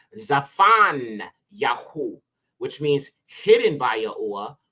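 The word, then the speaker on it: צפניה: one is Zephaniah and this is actually pronounced zafan yaho which means hidden by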